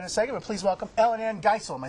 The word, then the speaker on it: EllynAnne Geisel: We'll talk about that in a second, but please welcome EllynAnne Geisel.